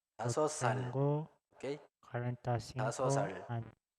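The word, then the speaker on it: 다섯 살: Entonces, igual tenemos Asot que termina con Shiot y Sal que comienza con Shiot. Entonces, se arrastra también. Yo Asosal.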